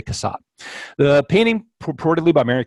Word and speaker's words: Cassatt: should know how to say this how to pronounce this person's name Cassatt we're gonna say Cassatt the painting purportedly by Mary Cassatt is a